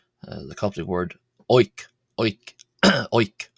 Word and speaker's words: ⲱⲓⲕ: Oink. Oink. O means bread and is pronounced oink.